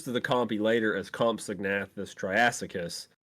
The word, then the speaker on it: Compsognathus: Is it pronounced Compsognathus? It's Compsognathus.